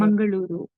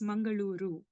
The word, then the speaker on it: Mangaluru: Like, how do you pronounce that? Mangaluru. Mangaloo. Yes, Mangaluru.